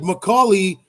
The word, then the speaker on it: Macaulay: have definitely existed so technically you're supposed to say his name like macaulay macaulay culkin culkin mccoy